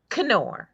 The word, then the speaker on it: Knorr: Yeah, actually, we pronounce the K. Knorr.